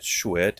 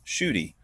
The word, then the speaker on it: Schuette: It is not Schuette, it is Schuette, which makes a lot more sense actually.